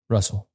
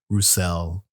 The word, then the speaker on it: Russell: the first time so oh no it's Russell I I've heard a worse people call it rousel I guess it depends